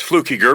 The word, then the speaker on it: Fluckiger: There's no N in it. It's Fluckiger, but that's fine.